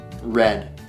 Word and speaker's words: read: the same same way in the past tense readed is now red sounds like the color red but it's spelled differently